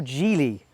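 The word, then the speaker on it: Geely: Mercedes or damler and giley or gy what are you laughing at depending on how you pronounce it who are the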